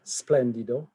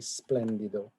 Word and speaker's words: Splendido: you'll find the hotel splendido um it's often sort of mispronounced uh as splendid it's actually splendido um and it's located